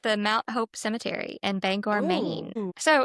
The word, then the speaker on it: Bangor: Now Mount Hope Cemetery in Bangor, Maine, I think it's Bangor. It's spelled B A N G O R. That sounds right. So if it wasn't Bangor and it's like Banger, like it should be an E, but I don't know.